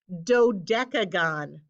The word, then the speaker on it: dodecagon: have oh goodness gracious well sides this is pronounced dodecagon dodecagon all fives on a polygon means it's a